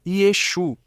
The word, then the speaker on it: Yeshu: E os galileus não a pronunciavam, eles também não pronunciavam. A diferença entre a Jaaf e a Jet, que são letras gulturais, assim são chamadas essas letras gulturais, porque estão na garganta, OK? Por isso o nome Yeshua para um galileu não era pronunciável. E por isso eles diziam Exu, assim era como se pronunciava para o Galileu.